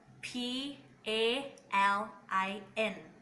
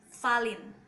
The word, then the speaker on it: Palin: into South for example I will spell P a L I n in Manglish they pronounce Fallon but in English pronounce Palin and they always confused